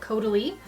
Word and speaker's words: Caudalie: It's by the French brand Caudalie. It's pronounced like totally.